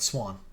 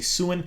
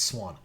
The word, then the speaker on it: Siuan: And somebody actually came at me for saying this wrong. Not Swan. That's how you pronounce her name. I do pronounce a lot of different things wrong. That one's right. Unfortunately, that's how you say it. A lot of people say Siuan or whatnot. It's Swan.